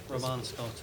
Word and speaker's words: Roman Scott: So do I pronounce this Mr. Roman Scott? Yep, Roman Scott is correct.